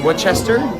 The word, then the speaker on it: Worcester: Um, if you're not from that area, it's pronounced Wchester.